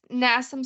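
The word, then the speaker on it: NASM: it am I did I say it right nasam certified yeah it's nasam certified and then I also am a nutrition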